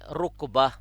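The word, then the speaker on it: ركبة: اور نیچے ہے رکبہ.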